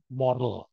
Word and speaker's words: morale: Moral yang tulisannya morale, bukan moral. Kalau moral yang artinya itu apa namanya, kejiwaan, itu moral, ya. Tapi kalau morale bacanya moral, ya, moral.